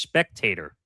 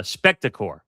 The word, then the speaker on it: Spectacor: was the status of Comcast Spectator, or is that how you say it? Uh, Spectacore, that's how you say the corporation sports and entertainment entity.